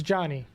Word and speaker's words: Chani: Yeah, it's Johnny. Johnny. Yeah, it's just Johnny. But it's spelled Chani.